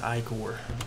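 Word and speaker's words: ichor: That's pronounced Icor.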